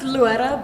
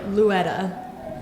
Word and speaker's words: Loera: You could say like Luetta, like with a D. Luetta. Really? Yeah. How's a D get in there? Well, because you're supposed to roll your R, but if you can't roll your R, then it's like Luetta.